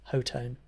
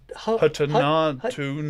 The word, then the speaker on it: Hotone: What I was so glad about that video is I now finally know how to pronounce Hotone. Yeah, I might have got it I wrong. was going Yeah. Hotone.